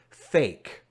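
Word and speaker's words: PHEIC: referred to in speech Phe IC is usually pronounced as a single word and that word sounds like fake seriously I'll show you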